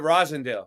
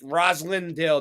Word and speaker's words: Roslindale: yeah like rosin yeah yeah we call it Rosendale that's what we call it yeah but but the people from out of town are like rosalindale they pronounce it with the L name and